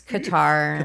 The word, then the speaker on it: Qatar: Qatar, however that's supposed to be pronounced. It's Qatar.